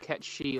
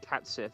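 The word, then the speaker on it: Cait Sith: I found it out through a playthrough that this is actually Gaelic, so it's pronounced different from how it's seen. Because I would have just said Cat Sith. Kate Sith is usually the one that everybody goes to.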